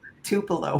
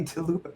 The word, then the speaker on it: Tupelo: Tupelo. Why does everyone say Tupo to What is it?